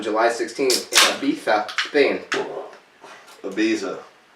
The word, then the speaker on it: Ibiza: Ibiza. Ibiza. That's how they say it in Spain.